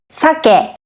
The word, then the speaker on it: 酒: So sake has two syllables. The first syllable is sa and the second syllable is ke. So as you can see in the graphics here in sake salmon, you can see the first syllable has a high pitch and the second syllable has a low pitch.